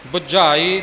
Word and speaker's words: बुझाई: गुरा एक देह बुझाई बुझाई थोड़ा कस के बोलना है गुरा ते जमक लगेगी